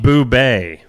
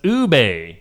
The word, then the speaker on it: ube: And it's pronounced apparently. Yeah. I don't know. You tell me. Bubet. Bubet. I don't know. That's what Amber says. Ube.